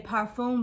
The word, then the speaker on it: parfum: I do call it a parfum because that is actually how you pronounce it. In American and in English, we say perfume, but it is actually a parfum.